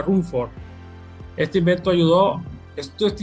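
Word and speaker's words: Ruhmkorff: que lleva su nombre la bobina de se pronuncia rumford este invento ayudó esto este invento que él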